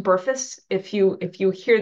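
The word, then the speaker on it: BRFSS: risk factor surveillance system um uh that is pronounced burus if you if you hear that it's pronounced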